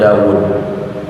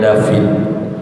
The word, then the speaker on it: Dawud: mengutus nabi dan rasul namanya Dawud orang-orang barat nyebutnya David mereka gak bisa Wow gak bisa Hai